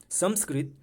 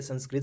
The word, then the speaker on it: संस्कृत: अभी जैसे कि हम लोगों को प्रोनाउंसिएशन करने में ये आदत है, संस्कृत संस्कृत बोलते हैं लेकिन संस्कृत है।